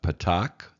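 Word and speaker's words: patach: And then the two vowels that we learned, we have the patak, the straight line, and the kamatz, which is the T. And as we talked about, these are both pronounced as ah sounds.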